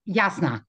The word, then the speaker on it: Jasna: Jasna. It's actually Jasna. Jasna. I wasn't sure if it was a silent J.